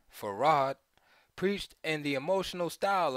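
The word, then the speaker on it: Fard: on the west coast F pronounced farod preached in the emotional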